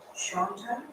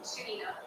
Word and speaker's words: Shanina: Now I have Shanta, if I'm pronouncing this correctly? Shanta. Shanina. Oh, Shanina, I'm sorry.